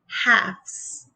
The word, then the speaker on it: halves: Now, as you see, the L, even though it's silent, it stayed there. So now we say halves.